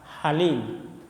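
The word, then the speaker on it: حليم: Agung dan Maha penyantun Halim ya pakai ha bukan Ha Halim itu makanya ada doa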